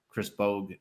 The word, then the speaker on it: Chris Bogue: I got my guest, Chris Bogue. I hope I pronounced it correctly.